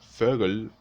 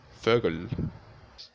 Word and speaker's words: Vögel: La letra O umlaut se deletrea también tal como se pronuncia. E. E. Recuerden que el símbolo que le daré entre paréntesis a la hora de ser pronunciada va a ser de una O y una E juntas. Por ejemplo, Vögel, que significa pájaros o aves.